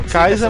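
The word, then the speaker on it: Kaixa: o faz e o kaisa falam kaisa mas se escreve com caixa com x mas ele é Ka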